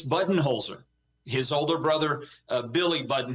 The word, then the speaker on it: Budenholzer: entire life pretty much growing up with the button Holzer family that is how it was pronounced it's it pronounced whether it's his dad Vince uh Vince Buton holer who's still with us his mother passed away last year Libby she was the mayor of Holbrook for for many years um it's button holer his older brother Billy